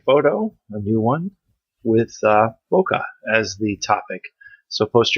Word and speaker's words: bokeh: Bokeh, B-O-K-E-H. In Japanese, it doesn't have the H. It's just bokeh. But then I think most people in the world would pronounce it the wrong way.